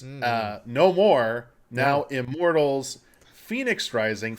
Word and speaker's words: Fenyx: Immortals Fenyx Rising. Phoenix is spelled Fenyx. It's spelled that way, not the way you probably are thinking.